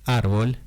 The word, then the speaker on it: árbol: Entonces, árbol es una palabra grave y lleva tilde.